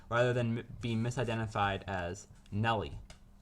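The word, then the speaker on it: Nelle: than be misidentified as Nellie. The correct way to pronounce it is Nell.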